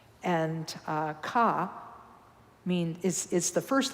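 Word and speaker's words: ཀ: word for word Ka but if you pronounce it because it's a tonal language it's car is the next one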